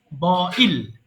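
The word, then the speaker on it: boil: ওকে, বয়েল মানে সিদ্ধ করা, এটা বয়েল হবে না, উচ্চারণটা হবে বয়েল, বইল, এটাই হচ্ছে সঠিক উচ্চারণ।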